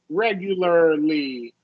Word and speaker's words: regularly: ASI yeah yeah anytime anytime you get R followed by l y adverb like particularly right that's always a mouthful for people so just um most of the time this is going to be awah R right like particular and regular and you're gonna so articulate the r then make the ly regularly particularly sorry articulate what L